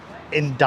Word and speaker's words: Indaiá: And this is the place I'm staying at, Hotel India.